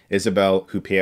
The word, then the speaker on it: Isabelle Huppert: character Greta played by Isabel coupie oh I guess is how you say her name and I'm trying to